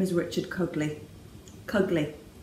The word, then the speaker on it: Cugley: Cugley to rhyme with ugly. A lot of people call him Mr. Coogley and things like that. It's wrong. That's not what it is. It's Cugley. So he gets called Cuggers.